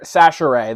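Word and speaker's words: Chachere: uh or I'm sorry Casher or sasher that's how you pronounce the name Andre sasher tipped the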